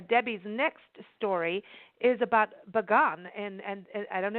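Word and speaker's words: Bagan: be seeing a Debbie's next story is about begun and and I don't know if I'm pronouncing that correctly and that's up in Myanmar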